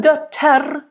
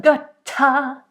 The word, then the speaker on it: Götter: And again, here we could argue about rolling the end. I don't like it. Rache, Götter. No rolling. If anything, a slight flip, but my favorite would be to not have any rolling or flipping. Rache, Götter, Götter, Götter, It's almost like Götter, Götter. You don't want to really make it a diphthong too much because you don't have time here, but Götter, nice open, and then the T very harsh, Götter.